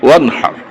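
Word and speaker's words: وانحر: অনহার শব্দটা শুদ্ধ হয় না অনেকের, কারণ এখানে হায় হাওয়াজ একটা, হায় হত্যি একটা। এই যে এই হায়ের উচ্চারণটা আমরা অনেকে করতে পারি না, এটা গলার এখান থেকে আসে আর আরেকটা হইল আশহাদু আল্লা ইলাহা, আশহাদু। এই আর দুইটা বেশকম করা লাগবে। যদি দুইটা বেশকম না হয় তাহলে তো অর্থ বেশকম হয়ে যাবে। ফাসাল্লি লিরাব্বিকা ওয়ানহার, গলার থেকে আসতে হবে, এটা উচ্চারণ ঠিক করে নেবেন।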